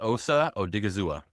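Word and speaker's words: Osa Odighizuwa: Dallas word, but his name is Osa Odigizua.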